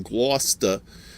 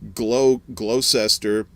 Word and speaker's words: Gloucester: used to live in gloucester uh or as uh the southerners call it uh glow glow cester uh because they don't that's true you know they don't know how to pronounce that word worcestershire sauce uh all